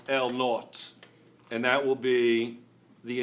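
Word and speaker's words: L₀: l o is going to be is actually pronounced L naught and that will be the initial length it's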